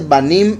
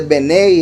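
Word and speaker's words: בְּנֵי: Los hijos de Elohim no se dice Banin Elohim, se dice Benei Elohim. Se quita la mem final cuando es algo de algo.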